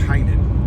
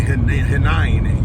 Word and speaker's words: Hanine: I always think Heinen. Why do I say Heinen? Because it's kind of like a German. It should be Hinein, you know the way it's spelled.